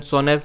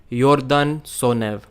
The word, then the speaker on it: Sonev: I pronounced it Yordan Sonev, but it was Yordan Sonev.